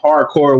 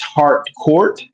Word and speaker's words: Hardcore: But we learned that people mispronounce Hardcore's name. They say hardcore when it's heart court.